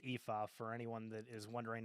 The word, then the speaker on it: Aoife: they said like it's pronounced Aoife for anyone that is wondering how to do that.